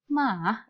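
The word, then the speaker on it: 马: ini saja yang dipakai ya ini dipakai artinya bacanya mah itu artinya kuda ke yang berikutnya Hai Mah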